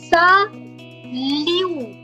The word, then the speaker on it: Salut: Last letter is silent. Salut. Salut.